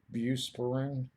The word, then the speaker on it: Buspirone: Buspirone. I get the, yeah, Buspar. That's kind of for short. That's kind of how you pronounce it.